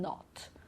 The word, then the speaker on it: knot: So here we don't pronounce the K, like in knock, knife, knee, and knot.